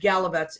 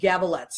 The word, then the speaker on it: Gavaletz: I said it wrong on the promo. I said Gavaletz. It is wrong. And I apologize, Rachel, profusely. And she was so nice about it. So it's Rachel Gavaletz.